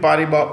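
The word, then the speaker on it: Paribas: BNP party bar at the S is silent BNP pariba open this BNP pariba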